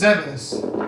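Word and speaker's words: Zebes: planet zebus receives or whatever oil is pronounced it's zebus that's how it's pronounced another room uh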